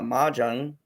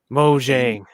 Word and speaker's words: Mojang: new live-action game titled everwild in 2014 uh mahjong mojang whatever my song that's offensive mojang what is